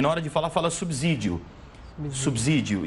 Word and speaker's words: subsídio: vou perguntar para vocês O correto é dizer subsídio ou dizer subsídio se puderem colocar a palavra na na aqui na tela eu agradeço bastante como se fala corretamente subsídio ou subsídio Aqui está a palavrinha subsídio subsídio subsídio E aí subsídio subsídio porque eu penso em subsolo também você pensa em subsolo veja vocês duas Claro